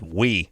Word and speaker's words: Oui: had a magazine called We. Oh. Well, I couldn't pronounce it. I think I called it Oi or Owie or Ouie. something. Ouie, Yeah, it was people call it. OUI. Which is we.